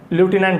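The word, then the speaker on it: lieutenant: लाई यू 10, और ल्यूटिनेंट होता है ये, रियल में इसका जो प्रोनाउंसिएशन होता है ल्यूटिनेंट होता है।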